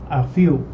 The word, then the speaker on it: a few: A few. A few. Suena como si esta E fuera I.